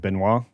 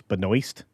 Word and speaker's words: Benoist: See, her name's weird because I would pronounce it Benoit, but I'm supposed to use the S there, so it's Benoist. It's like a really weird way to say things.